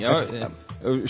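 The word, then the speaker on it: Fachin: E é é faxim ou é faquim? Faquim Chico na italiana. Faquim ou Faatim? Faquim. Faquim. Então, nosso querido Luís Edson Faquim para a vaga do Joaquim Barbosa no STF.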